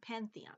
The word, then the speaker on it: Pantheon: and Greek Pathan Palace Pantheon Pantheon that's how you pronounce it oh sorry I'm a